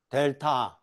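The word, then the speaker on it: del: 이건 델이라고 읽어요. 이거는 이거는 델타고 델타의 대문자입니다. 조문자는 이렇게 쓰는게 델타예요. 이게 델타. 이게 그리스 문자인데 요것이 의미하는 바는 거꾸로 써서 거꾸로 써서 델이라고 해요.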